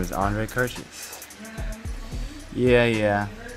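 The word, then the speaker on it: Kertész: his name is andre kurchus yeah yeah his name is hard to pronounce because you know he's he's hungarian he's born in hungary and his last name is spelled k-e-r-t-e-s-z yeah you know it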